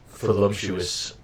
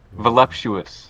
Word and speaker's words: voluptuous: think I mispronounced it I think it's pronounced with a V just a moment voluptuous yes that's what I meant to say I stud voluptuous I